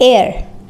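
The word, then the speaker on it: heir: एच ई आई आर एच ई आई आर इसे हम पढ़ते हैं एयर एयर एयर इसकी इसका मतलब क्या होता है?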